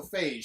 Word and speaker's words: Feige: Okay, beige is written the same way, so Feige. Yeah. Kevin Feige.